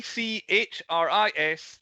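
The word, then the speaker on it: Dchris: hoods uh first d c h r i s the d is silent it's chris first and secondly a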